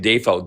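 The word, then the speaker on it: Dafoe: It's actually William Defo. That's how it's like correctly pronounced.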